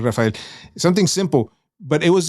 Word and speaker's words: Rafael: lines was like uh they say my name's Rafael like something right I kind of said it like but my name is Raphael Raphael but my name is Rafael something simple but it